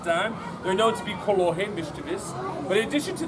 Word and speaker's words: kolohe: very mischievous, or as we say in Hawaiian, kolohe. Ho'opi, I repeat after me, kolohe.